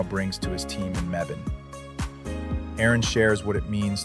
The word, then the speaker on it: Mebane: City of Mebane. Yeah. Mebane, North Carolina.